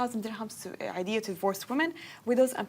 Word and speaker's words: Eidiyah: dirhams to Eidiyah to divorced women, widows and people of determination, orphans and retirees in Sharjah.